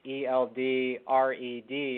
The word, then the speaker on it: Eldred: It's Eldred, and whenever I tell people how to spell it, that's what I say. I say ELD and then red, like the color.